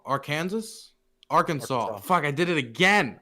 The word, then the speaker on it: Arkansas: Arkansas. Fuck, I did it again. Okay, Arkansas.